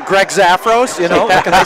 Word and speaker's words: Zafros: us just email me at Greg at Greg zafos . zafos is spelled just like it sounds ZF R oos